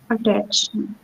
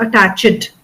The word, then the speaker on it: attached: Attached, Okay. So it is not attached. So after ch, immediately we have to say the d sound. So it becomes attached.